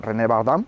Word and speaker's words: René Bardin: Este hombre, René Bardin, René Bardin, si lo pronunciamos a la francés, es un empresario vinícola